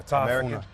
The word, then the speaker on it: Tafuna: Make sure I pronounce this correctly. So you're from Tafuna? Yeah, Tafuna.